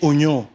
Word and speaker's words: oignon: Tu sais, oignon. Tu sais qu'il y a un i dans oignon. Mais on le prononce pas.